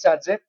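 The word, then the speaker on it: Zaitsev: द सैडजेफ rule after the name of who pronounce S सैडजेब क्या ये समझ में आ रहा है तो अगर आपके डिहाइड्रोहैलजनेशन से दो या दो से ज्यादा प्रोडक्ट बन रहे हैं।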